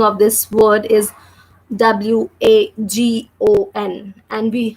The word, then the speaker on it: wagon: of this word is W-A-G-O-N. And how we will pronounce this word, W-A, because the sound of W is V. The sound of letter A is A. So we are saying like Va.